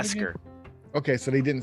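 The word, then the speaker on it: beskar: Besar. Okay. So, they didn't say that for sure. Besar. Bescar, I think is how it's pronounced.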